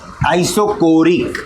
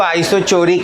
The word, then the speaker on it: isochoric: आइसोकोरिक, इसका spelling सही जाने के लिए ना बच्चे लोग इसको आइसोचोरिक भी बोलते हैं।